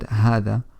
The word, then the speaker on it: هذا: conclude we've looked at the word hada and we've said that it's pronounced as her with an alif after the her despite the fact that it's not written that way we also mentioned that